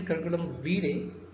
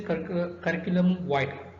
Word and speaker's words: curriculum vitae: Now, the word curriculum vitae, actually the right pronunciation is curriculum vitae, but the popular pronunciation is curriculum vitae. Okay, that depends on how you use, but vitae is the right thing to use.